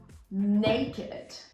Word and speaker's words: naked: And the famous naked.